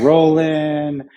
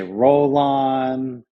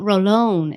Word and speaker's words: Rolón: me that's like beautiful it's not Roland roll on oh roll lot no roll on that's it's a a beautiful name people need to say it right listen if you listeners